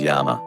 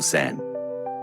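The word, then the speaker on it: 山: For example, the symbol for mountain can be read as yama or san.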